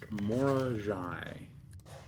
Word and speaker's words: Mora: The name on the stamp is pronounced Mora. Mora.